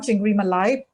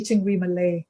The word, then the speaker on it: chingri malay: And it was actually chingri malay Oh. and not chingri malai.